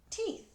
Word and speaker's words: teeth: next to each other sometimes when two vowels go walking side by side the first one does the talking and the second one is silent so the first one is going to say its name so it says teeth where do the teeth